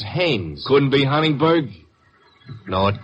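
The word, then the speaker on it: Haines: Hines used to fish out no no not Hines hannes couldn't be Huntingburg no it couldn't be the name is hannes h a i n haes give me your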